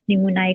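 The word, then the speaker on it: pneumoniae: ठीक है, निमोनाई जब बोलेंगे तब ऑर्गेनिज्म का नेम है, और नमूनिया जब बोलेंगे तो वो डिजीज का नेम होता है। ठीक है, इनकी प्रोनाउंसिएशन थोड़ी सी डिफरेंट है। नमूनाई ऑर्गेनिज्म नेम है और नमूनिया जो है वो डिजीज नेम है।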